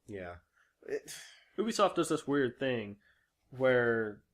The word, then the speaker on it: Ubisoft: point it out again it is pronounced Ubisoft because Ubisoft is short for a ubiquitous software so just letting you